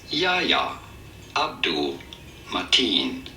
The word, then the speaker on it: Yahya Abdul-Mateen: In the DC Extended Universe superhero film, Aquaman, how do you go about pronouncing his name? Yahya Abdul-Mateen.